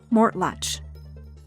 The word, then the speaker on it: Mortlach: Professor, this distillery is pronounced, “Mortlach.”